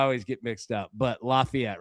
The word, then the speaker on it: Lafayette: Make sure there's a little town in Tennessee that's pron it's pronounced Lefayet. So I always get mixed up, but Lafayette, right?